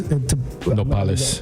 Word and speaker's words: nopales: Nopales.